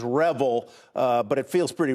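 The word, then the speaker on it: REvil: managed service provider so so you say revel i said revel i'm not sure which is more more appropriate here i'm going to take your word that the proper way to pronounce it is revel uh but it feels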